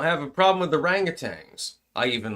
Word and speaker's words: orangutan: I don't have a problem with the orangutans. I even like the corrupt ones because they're orangutang. And I am going to pronounce it orangutang, not orangutan, by the way.